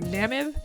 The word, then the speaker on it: Namib: sure i don't i don't know how to pronounce that anyway it's the namib nam ib good job you got it right